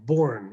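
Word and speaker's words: Bourne: is the health of the state by Randolph born it's spelled b-o-u-r-n-e you could read it online and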